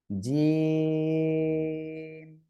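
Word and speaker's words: جيم: দেখেন আমি যদি আপনাদের সিম্পল একটু বোঝাই তাহলে জিম, তিন আলিফ টান, ঠিক আছে, জিম, এভাবে আপনারা উচ্চারণ করবেন।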